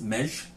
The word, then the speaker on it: Meggy: Hungarian Cherry ale um it's pronounced so the me GGY is pronounced mesh I'm probably butchering that